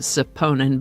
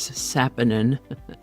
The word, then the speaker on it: saponin: I keep wanting to pronounce it saponin, but it is sapinin.